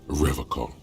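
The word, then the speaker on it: Revachol: forever call he pronounces revacon with a hard k a serious question time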